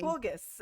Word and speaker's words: Walpurgis: And it's spelled Walpurgis, and I'm all like, and then I'm like, that's not how you pronounce it. And so I had to listen to like a Google Translate. They're like, it's So witty. Valpurgis.